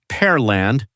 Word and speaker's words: Pearland: Also, it's pronounced Parland.